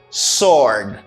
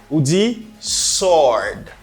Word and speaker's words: sword: vocabulary is pronounced as sword sword sword it's because this letter is silent you don't need to pronounce it sword sword sword is an